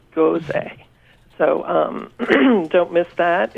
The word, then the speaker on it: Gose: We have Caitlin Olinger writing about sour beer, and fortunately she tells us how to pronounce it, Gose.